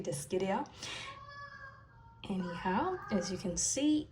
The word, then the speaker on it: Dischidia: It's not Dischidia, which it looks like it sounded like that, but it should be Dischidia.